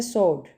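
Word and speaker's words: sword: Next है सोड। सोड मीन तलवार यानी यहां पे सोड। डब्ल्यू को प्रोनाउंस नहीं कर रहे। ठीक है? तो ये साइन लेटर होगा।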